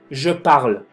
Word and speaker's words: je parle: base que estamos viendo, je parle. Sí, termina el verbo con E, pero no se pronuncia.